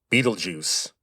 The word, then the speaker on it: Betelgeuse: By the way, that is how you say that name. Betelgeuse.